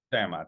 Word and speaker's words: Tiamat: saying it correctly but is it Tiamat is that how you say it tamat yes and tat yeah